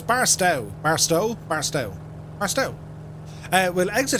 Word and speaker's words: Barstow: I always pronounce this place wrong, but it's Barstow.